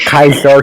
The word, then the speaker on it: Caesar: This is like when the Senate told Kaiser he was a traitor.